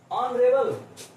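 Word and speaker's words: honourable: ऑनरेबल, HONURABLE, ऑनरेबल मैन मतलब सम्मानित व्यक्ति। अब यहां पर भी एच साइलेंट है तो हम क्या करेंगे, यहां पर भी ओ से स्टार्ट होगा, इसे ओ बोलेंगे, यानी कि ओ क्या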